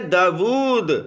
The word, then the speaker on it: داود: اور داؤد، داؤد دیکھیں، یہ لفظ ہے داود، یعنی واو اس میں جو ہے سائلنٹ نہیں ہے، اور اس کے سپیلنگ